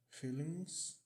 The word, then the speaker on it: feeling: nessa palavra Feelings porque essas palavras que terminam com NG esse G não é pronunciado porém o som do n é um pouquinho diferente ele é um pouco modificado né do n normal por isso que ele é representado até com esse n com uma perninha né só um pouquinho diferente e como é que é esse fonema para você entender a gente começa a pronunciando com o som do n normal feeling e vai movimentando a